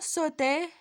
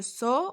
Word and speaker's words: saut: Maintenant, sauter, son nom c'est le saut. Aussi, on ne se prononce pas le T, on ne dit pas le saute, mais le saut, le T aussi se prononce pas, elle est muette.